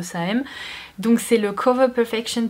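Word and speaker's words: Saem: Bon, ça s'écrit S-A-E-M, donc je suppose que c'est The Same.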